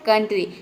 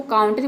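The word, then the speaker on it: country: ये हो जाएगा कांट्री लेकिन हम इसको काउंटरी प्रोनाउंस नहीं करते हैं इसको हम प्रोनाउंस करते हैं कंट्री जिसका मतलब होता है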